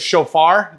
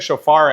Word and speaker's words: Shofar: Is it Shofar? Is that how you say it? Shofar action.